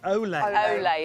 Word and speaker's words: Olay: How do you say it right? Olay. Olay, isn't it? It used to be Ulay, now it's Olay.